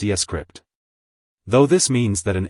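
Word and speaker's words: scrypt: the sha256 algorithm while Litecoin uses scpt pronounced escript though this means that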